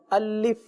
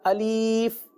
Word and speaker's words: الف: جیسے اس طرح بھی پڑھ دیا جاتا ہے الف یا الیف یا الف۔ یاد رکھیے یہ حرف ہے تو